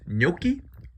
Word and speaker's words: gnocchi: I say gnocchi. It's pronounced gnocchi. Other people say it differently. We say gnocchi.